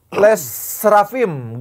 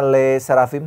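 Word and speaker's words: LE SSERAFIM: nah inih selanjutnya ada les rafim girls band asal Korea Selatan dituduh lipsing di koc ah kocela kocela dari wae inial kocela lagi Ini kocela jadi ee penampilan ini benar dibacanya Le Serafim leim Le serfim Oh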